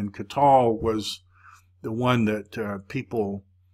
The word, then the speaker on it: qatal: of stop your pronunciation it's helping you see that this is a vocal schwa instead of a closed syllable with an O sound so it's cut to LA Cotte to la qatal cut to LA qatal